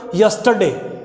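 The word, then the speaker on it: yesterday: यस्टरडे में आर को silent रखें, ये तीसरा पॉइंट। यस्टरडे, यस्टरडे।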